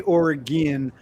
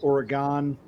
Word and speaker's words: Oregon: I know you guys say Ore-gin. If In the Northeast, for whatever reason, we've always pronounced it Ore-gon cuz it's g o n like pentagon.